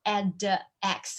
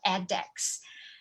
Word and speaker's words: edX: mandarin x because it's edex it's e d x and we pronounce it like add x of addex so mandarin x was